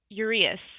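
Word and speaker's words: Uraeus: how to pronounce this it's u r e a u s is it uras that's the Urus yes it's a protective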